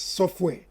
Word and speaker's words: software: Well, the real pronunciation of software is software. That is, the letter T is not pronounced.